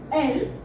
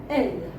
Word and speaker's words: elles: More girls will pronounce it L, will add S here, L.